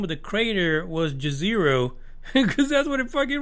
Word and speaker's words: Jezero: saying that the name of the crater was Jezero because that's what it fucking reads.